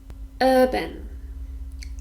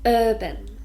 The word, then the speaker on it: urban: Urban. This is an adjective and it's got 2 syllables, and we stress the first one. Urban.